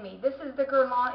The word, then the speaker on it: Guerlain: one of my subscribers I was saying it wrong which I knew that I would because it's French and I don't have a French thing in me this is the gon it's got the gold